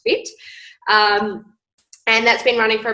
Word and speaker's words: FHIT: fit by Lauren Hannaford FH IT but pronounced fit and that's been running